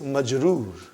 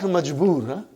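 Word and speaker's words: مجرور: a talmin or one we will say the noun is major not majbur major okay major major are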